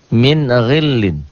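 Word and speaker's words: مِنْ غِلٍّ: Ghi. Jangan gi, g. Jangan khillin. Ghi.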